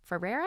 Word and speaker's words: Ferrera: into words when America Ferrera Ferrera is how you say she goes on her